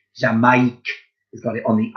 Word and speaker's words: Jamaïque: Jamaique. Now, let's spell it now with the phonics.